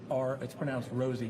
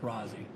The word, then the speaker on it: Rosie: It's pronounced Rosie, not Rozzy.